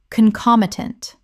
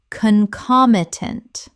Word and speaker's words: concomitant: Concomitant. Common mispronunciation. Concomitant. Correct pronunciation. Concomitant. Four syllables with the stress on the second.